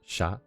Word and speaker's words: chat: fren this word here is pronounced would be pronounced uh sha which is French for cat I don't think